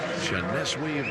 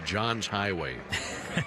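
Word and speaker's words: Johneshwy: Janeswe Vargas. The way that his name is spelled, it looked like it would be John's Highway. J O H N E S H W Y.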